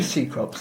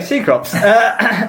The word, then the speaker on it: Cecrops: Wait, let's do Cecrops, I think. Cecrops. I think it can be pronounced Cecrops with a K, but we're going Cecrops. We're anglicising it.